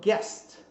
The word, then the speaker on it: guest: Em inglês, também o GUE, geralmente o U não é pronunciado. Então, por exemplo, a palavra guest, que é hóspede, né? Visita, visitante, né? Ok? Então, guest.